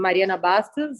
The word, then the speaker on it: Mariana Bastos: And I am Mariana Bastos.